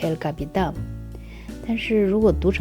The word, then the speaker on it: El Capitan: one you see is El Capitan This name is actually Spanish It should be pronounced El Capitán But if you read it in English it would be El Captain This 914-meter vertical granite